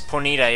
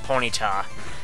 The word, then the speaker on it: Ponyta: Ace yeah I don't know why Ted Lewis pronounces it as ponita even though it's supposed to be Ponyta and the anime I was pointing to All